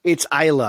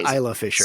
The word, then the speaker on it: Isla Fisher: But I think he's great, and his scene with is it Isla Fisher? Is how you say her name? It's Isla. I had to look it up because I've mispronounced it for apparently over a decade.